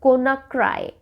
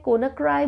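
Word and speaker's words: Conakry: चलिए, next कंट्री is Guinea and the capital is कोनाक्राई. कोनाक्री बोलते हैं, कोनाक्राई बोलते हैं, depending on the pronunciation that you want to यूज.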